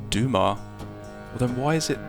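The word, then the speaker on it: Dumas: to game five I believe it was a dumbass that once wrote on what Slender threads do life and Fortune hang what's that it's pronounced Dumar well then why is it spelled whatever the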